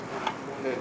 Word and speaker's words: bubul: Pues ya no lo pronunciamos ahorita, ¿no? Pero sí existe, pues ahí ya en el habla común, pues ya es bubul, ¿no? Se cae en la última vocal de bubul, ¿no?